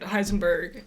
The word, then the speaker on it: Heisenberg: to say his name Carl Heisenberg it's Carl Heisenberg Carl cuz he's German the only one that's